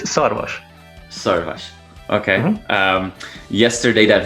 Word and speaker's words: Szarvas: It's Szarvas.